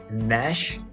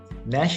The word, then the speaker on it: gnash: like a lion roar Nash Nash has got a g but that's a silent G you don't pronounce the G that is Nash that